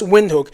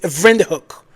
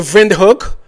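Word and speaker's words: Windhoek: to windhook and he said it is not pronounced windhook it is ven hook I was like okay African German thank you for correcting my um my vocabulary is vind hook so it's weird to me why the government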